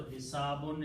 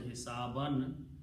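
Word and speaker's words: حسابًا: So and because this is a noun which comes after the verb, so hisabun is pronounced as hisaban.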